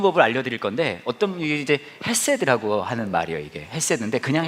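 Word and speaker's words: חסד: 제가 그래서 여러분에게 이거 읽는 법을 알려드릴 건데, 이게 이제 헤세드라고 하는 말이에요. 이게 헤세드인데, 그냥 헤세드라고 하면 맛이 안 살고요, 이거를 이제 발음할 때는 가래를 좀 끓여야 됩니다.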